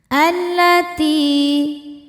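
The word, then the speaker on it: الَّتِي: Allati. Ti hukumnya mad tabi'i dhahiri karena ada ya sukun sebelumnya kasrah. Cara bacanya panjang 2 harokat.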